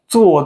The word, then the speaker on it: 坐: 坐地铁。 don't need to roll your tongue, okay?